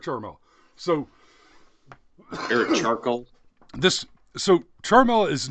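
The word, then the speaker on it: Ciaramella: I've heard the last name pronounced a couple of different ways. Well, the last name is Charmella.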